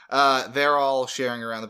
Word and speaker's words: Hebert: I think Kyle Hebert, Hebert, I don't know how to pronounce his last name. It's Hebert.